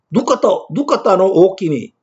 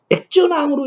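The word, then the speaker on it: 額田王: 이것으로 유추해 보면은 액전왕이라는 글자는 누까따노 오키미 이렇게 읽어야 할까요? 액전왕으로 읽어야 할까요? 액전왕으로 읽어야 한다는 뜻입니다. 누까따노 오키미 이렇게 읽어서는 안 된다는 뜻입니다.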